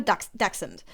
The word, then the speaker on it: Dachshund: So I have a dachshund. And which is a funny word in English because it's basically a German word, just English with an English pronunciation. In German, it's Dachshund. Even more.